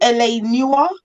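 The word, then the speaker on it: L.A. Noire: i like um there was another one called l.a newer did i say it right oh yes yeah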